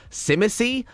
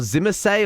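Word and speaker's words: Tzimisce: similar that it's pronounced Simha C or Zimmer say or something like that the T is silent that's the important thing I think it's Zima C so that's how I'm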